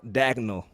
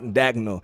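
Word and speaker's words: Daigneault: It's Mark Dagnall. You didn't get the pronunciation on that. Mark Dagnall.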